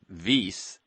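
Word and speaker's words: Wyss: And you can learn more at vase.harvard.edu and vase is spelled wys.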